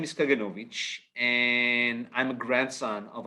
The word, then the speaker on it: Kaganovich: me about my last name and how to pronounce it and my last name is kaganovich and I'm a grandson of a holocaust Survivor